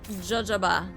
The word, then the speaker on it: jojoba: Not pronounced like that. Sounds cute though. Jojaba.